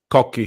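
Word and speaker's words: Cocchi: God cocky Americano or coochi Americano how do you pronounce that is it COI or cocky cocky cocky cocky cocky Americano oh that's interesting so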